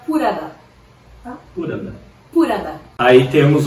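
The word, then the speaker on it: プラダ: O pessoal se pronuncia Purada.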